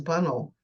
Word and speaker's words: Bunnell: yeah interestingly enough my my brother-in-law doesn't say banel he says bunnel so I don't think there's anybody original around that's left that knows how it's supposed to be pronounced but I went with his I didn't argue with my brother-in-law and so um so